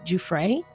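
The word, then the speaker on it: Giuffre: Now, I did not realize I have been saying her name incorrectly. It's Juay.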